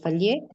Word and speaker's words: falaises: connaît une activité tectonique avec des plis et des falaises, No pronuncio la S. E de faille. des falaises qui ont modifié Tiene acento.